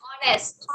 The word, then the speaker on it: honest: जो ओ से स्टार्ट हो रहा था, आर, ऑनेस्ट, Honest. आर, ऑनेस्ट, है ना? तो ये दोनों वायलेंट साउंड हो गए और ये दोनों साइलेंट साउंड हो गए।